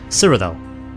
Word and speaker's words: Cyrodiil: And just so everyone knows that I know how to pronounce it now, I've been educated, Cyrodiil. There you go, not Cyrodiil or Cyrodiil, Cyrodiil.